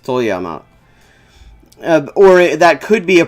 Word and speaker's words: Toyama: be very specific or toyama that's how it's pronounced toyama or that could be a program they're having